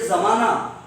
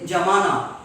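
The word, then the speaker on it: زمانہ: If we have to say zamana, they say jamana.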